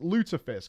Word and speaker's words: lutefisk: Pronounced Lutefisk. I was correct.